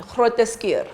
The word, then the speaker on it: Groote: in my country, Groote.